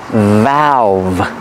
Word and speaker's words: valve: use open and close pronunciation valve use the short a sound like apple and black cat valve remember the V has a voice a vibration valve this is a